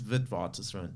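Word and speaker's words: Witwatersrand: where I studied um it's sort of a Dutch name so that's why it's hard to pronounce but it's vidvat run yeah University of vivartis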